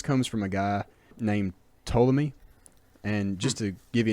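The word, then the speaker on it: Ptolemy: from a guy named toy and just to give you an idea of how weird this guy is he spells his name with a silent P at the beginning so PT o l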